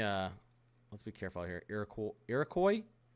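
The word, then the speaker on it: Iroquois: Irakcoy. Irocoy. I feel smart. I feel like I actually know how that's pronounced. Irocoy. Am I right, guys? Irocoy. I'm pretty positive I'm right about that.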